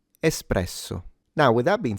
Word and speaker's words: espresso: The R is slightly trilled, but you don't have to exaggerate it and turn it into. No one says it that way. Espresso.